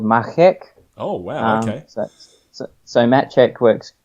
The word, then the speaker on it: Machek: now it's check what's what's the correct correct pronunciation you need to involve a lot more saliva and it's called makkac Oh so Matt chat quirks good a lot of people say may check or some random variation of that it's good